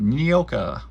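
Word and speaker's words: Nyoka: what used to be nioka that's pronounced neoka NOA the jungle girl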